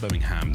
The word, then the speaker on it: Birmingham: And it's you say it right and it's Birmingham. Not not Birmingham. Not Birmingham. There's no there's no bo don't no pork involved. It's it's Birmingham. Birmingham.